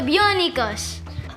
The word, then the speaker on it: Bionico: Bionicos from Mexico. Hey guys, President Kyle here. Sorry for mispronouncing the word. It's Bionico, not Bionicos.